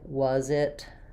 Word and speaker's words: was: especially when we're linking thinking about like was it you should really be able to hear was it was it as you link that more strong z sound it was it was